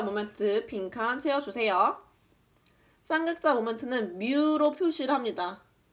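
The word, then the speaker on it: μ: 쌍극자 모멘트는 뮤로 표시를 합니다. 뮤. 얘를 뮤라고 읽고요.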